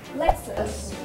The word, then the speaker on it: Lexus: Không phải là Lexus đâu, mà tên của hãng này phải đọc là Lexus.